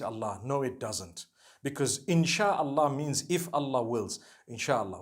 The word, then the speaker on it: insha Allah: inchi means to create no one says inshi Allah they say insha Allah that's what it